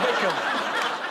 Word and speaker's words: Wycombe: W I Wick Wickham.